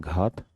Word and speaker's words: घात: Spelling पे मत जाइएगा, हिंदी में कहते हैं घात, धात नहीं, घात, घ, घातांक, घातांक, यंग की बिंदी यहाँ है, घातांक एवं करणी।